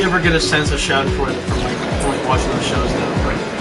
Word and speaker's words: Schadenfreude: I rarely ever get a sense of Schadenfreude from watching those shows now. Well, Matt, got it. My friend's sweet. Fuck you. You can scoot and fruity your fucking ass off a cliff if you